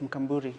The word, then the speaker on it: Mkamburi: Maxine Mkamburi, say it right, Mkamburi. Mkamburi.